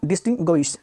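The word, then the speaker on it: distinguish: डिस्टिंग dish डिस्टिंग्विश डिस्टिंग्विश अब यहां पे थोड़ा ध्यान रखना है यहां पे डिटिंग ग यहां पे ग है यहां पे यू जो है वो व का साउंड दे रहा है और आई यहां पे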